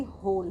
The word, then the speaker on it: whole: अब W के बाद इसमें H लेटर है, और जब अगर किसी वर्ड में W के बाद H होता है तो हमारा उसमें W साइलेंट हो जाता है, तो इसको हम पढ़ेंगे होल।